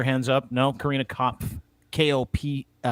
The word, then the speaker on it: Kopf: Kopf, I believe is how you say her last name. Kopf.